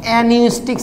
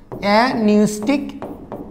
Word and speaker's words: অ্যাপনিউস্টিক: এর ঠিক নিচে যেটা আরেকটা সেন্টার থাকে, এই দুটো, এই সেন্টারের নাম হচ্ছে অ্যানিউস্টিক সেন্টার, পি এর উচ্চারণ হয় না, অ্যানিউস্টিক সেন্টার, অ্যানিউস্টিক সেন্টার, সেন্টার আর লিখলাম না, আচ্ছা হলো সেন্টার।